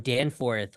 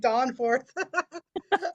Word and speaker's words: Danforth: when you're in Toronto learn how to say Danforth I was not calling it Danforth I was calling it Dawn forth I'm so sorry um